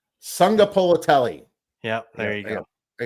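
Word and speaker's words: Sagapolutele: Sunga Polotelli. Sunga Polotelli. Yep, there you go. I got to practice that. Sunga Polotelli came out being the shining from I'm guessing Hawaii, right? It's Jaron Kiwi Sunga Polotelli.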